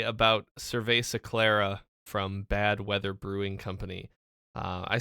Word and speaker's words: Clara: It's pronounced Clara. Oh, cool. Thank you. Thank you, Libby. Not Clara, of course.